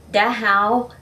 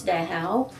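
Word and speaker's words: Dachau: czechoslovakia matthausen in austria da hou and that is how the polls pronounce da hao and it's satellite camp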